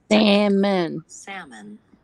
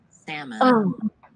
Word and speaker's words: salmon: video we'll look at how to pronounce salmon has two syllables um salmon salmon the first vowel in Salmon is vowel ah as in Black I don't need that